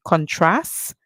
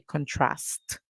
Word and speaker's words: contrast: is contrast contrast contrast so the Americans would say contrast they would finish the word at the S sound remember they do not call the T sound at the end but however for the